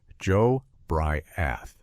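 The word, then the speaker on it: Jobriath: His name was Joe Briath, pronounced Joe Briath.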